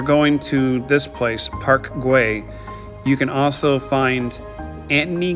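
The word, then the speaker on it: Güell: It's pronounced Guay. So when you're going to this place, Park Guay, you can also find Anthony Gaudy's Museum in the middle of the park.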